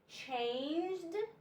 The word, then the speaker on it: changed: Mom already changed the baby's diaper. Okay? So this ed just sounds like D. The E is silent. You don't even hear it. It's just D.